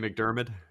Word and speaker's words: McDiarmid: I have no idea how to pronounce his name. Diarmid. Yeah, Ian McDermott.